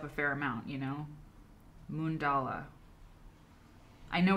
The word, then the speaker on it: mandala: I said mandala because I'm from Iowa. I said mandala. It's mundala.